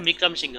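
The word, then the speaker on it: বিক্রমসিংহে: এটা উচ্চারণটা বিক্রম সিংহে হবে।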